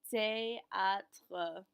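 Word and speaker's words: théâtre: du teatro ferro du te a tre remember our th is still pronounced like a regular t and e excellente gu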